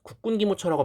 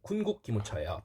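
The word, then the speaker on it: 군국기무처: 주시면 되겠고요 자 이것에서 발음 조심하셔야 됩니다 군곡 기모처입니다 국군기모처라고 많이들 헷갈리는데 군국 기모처에요 근데 이거 완전 워커홀릭트입니다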